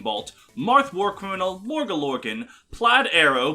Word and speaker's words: Plaid: McBackstab, Hell on Heelys, Jay Hun, Jespacito 2, Larmachi, Lysevening Bolt, Marth Warcriminal, Morga Lorgan, Plaid Arrow, played is pronounced like the pattern, Ranger Man Sam, Shen